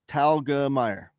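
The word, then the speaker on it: Telgemeier: to say your name so it's pronounced just like it looks talga Meer okay my son's a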